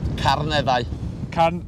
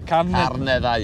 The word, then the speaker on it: Carneddau: Carneddau. Carneddau, yeah.